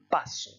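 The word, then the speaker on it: paso: Si vous enlevez l'accent écrit, vous devez prononcer sur l'accent tonique sur le A. Vous devez prononcer le A plus fort et ça donne passo.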